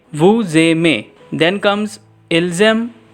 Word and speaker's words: ils aiment: Then comes ilzem, elzem. Here it is written as ilgem, elgem, but kindly make it softer so that it sound as ilzem, elzem.